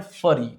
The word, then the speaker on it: furry: फ्यूरी, फरी और फ्यूरी दोनों पढ़ सकते हैं, हालांकि FURRY को फरी पढ़ते हैं, FURY को फ्यूरी, पर अमेरिकन ब्रिटिश इंग्लिश में उच्चारण अलग अलग होता है, तो आप इसको फ्यूरी और कभी कभी फरी भी पढ़ सकते हैं।